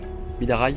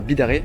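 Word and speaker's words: Bidarray: Bidaraï et non pas Bidaré.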